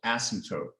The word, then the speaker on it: asymptote: Asymptote. The M's kind of silent and the P's kind of silent. It's like asymptote, asymptote.